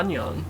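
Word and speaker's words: 안녕: Annyeong. Is that how you say it? Yeah, Annyeong.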